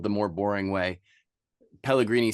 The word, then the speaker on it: Pellegrini: Pellegrini spelled like San Pellegrino, but change the O to an I at the end.